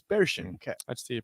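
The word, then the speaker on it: Barchen: spell version b-a-r-c-h-e-n okay it looks like bar chin but it's bear Shin okay I see you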